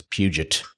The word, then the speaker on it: Puget: I like Puget Sound. That's for sure not how it's pronounced. Oh, for sure. It's Puget. Yeah.